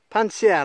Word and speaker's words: Pannecière: Pincière, lac de Pincière. J'ai du mal à le prononcer.